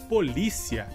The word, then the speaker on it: polícia: Nossa próxima palavra seria, em espanhol, policia, e em português seria polícia. Nesse caso, a palavra em espanhol tem a sílaba mais forte como si, e no português a sílaba mais forte seria li.